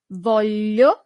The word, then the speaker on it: voglio: Voglio, with that difficult sound, l, voglio, literally corresponds to I want.